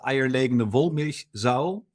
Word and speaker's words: eierlegende Wollmilchsau: I'll pronounce it in German. It's the eierlegende Wollmilchsau.